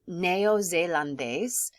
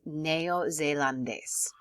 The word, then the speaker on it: neozelandés: So neozelandés, it's a mouthful. So knowing that you pronounce every syllable in Spanish, pronuncia cada vocal, es importante.